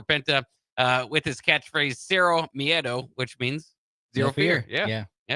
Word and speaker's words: miedo: new era for Penta with his catchphrase, Cero Miedo, which means zero fear.